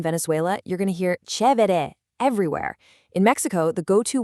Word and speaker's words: chévere: Let's listen to those pronunciations. Chévere, chido, genial.